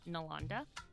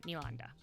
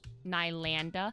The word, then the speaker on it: Nalanda: Or there's two ways I accept my like name being pronounced, which is Nalanda and Nilanda. Those are the two ways I think that sound the most like accurate to me.